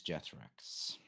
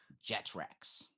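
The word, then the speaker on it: Jethrax: Yes, my name is Jethrox. How do you spell that? Can you tell it? J E T H R A X Jetracks.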